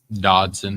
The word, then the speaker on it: Dodson: Dodson. D-O-D. D.O.D. Anybody else got another way to spell it?